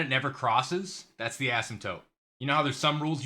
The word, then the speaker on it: asymptote: I'm not joking I am not joking it's pronounced asymptotes asymptotes this is not a joke I know right